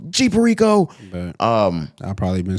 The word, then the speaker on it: G Perico: when this tape dropped at first I thought it was Jeep Perico until I'm finally hearing DJ Drama Go Jeep Rico um I've probably been